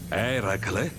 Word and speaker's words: Eracle: succede alla tua voce era cla sì quello è così che si dovrebbe pronunciare sembra una bella fatica